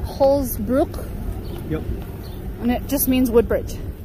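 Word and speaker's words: Holz-Brücke: the frankenmuth covered bridge it's called how they pronounce it holsbrook and it just means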